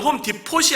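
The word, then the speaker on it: Home Depot: 근데 영어 발음은 디포가 아니라 DEPOT예요. 그러면서 저거는 홈 디포시 아니라 홈 디포라고 말한다. T가 묵음이라고 그렇게 얘기해 주고요.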